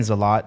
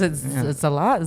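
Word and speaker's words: Zalat: a l a t I was saying zalot I think is zalot zalot zot maybe both depend on the culture yeah right depends on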